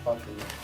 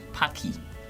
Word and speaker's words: Paqui: Paqui.